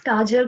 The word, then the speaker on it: Kajal: last name because I don't know how to spell that it's gajeel okay because kedge it's like my